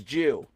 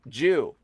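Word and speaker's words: 十: It's Jew. It's a Christian cross and it's pronounced Jew.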